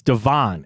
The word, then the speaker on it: Devon: Devon is it not it's not Devin it's Devon a chain I'm gonna go find